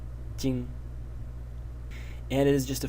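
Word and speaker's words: 巠: And this is pronounced jing, jing.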